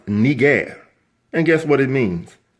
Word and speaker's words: Niger: and press the audio play button, it is pronounced Niger.